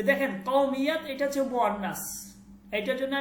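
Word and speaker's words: قومیت: কেন বলি নাই, কারণ কওমিয়াত এটা মুয়ান্নাস, কওম, ঠিক আছে, এটা জন্য আমি কি বলছি। ওকে, তাহলে বলতেছে যে আপকি কৌমিয়ত, কৌমিয়ত, ঠিক আছে, কৌমিয়ত, কৌমিয়ত। মিয়াত উচ্চারণটা কওমিয়াত। आपकी কওমিয়াত क्या है, আপনার জাতীয়তা কি?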